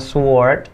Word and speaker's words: sword: Pedang itu dibacanya bukan sword, tapi sword. W-nya nggak dibaca, jadi sword.